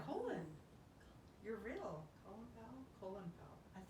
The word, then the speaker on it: Colin: powell no his name's colin his name was colin maybe not a lot of spelled colin but it is colon i think it's pronounced colon you're real colon power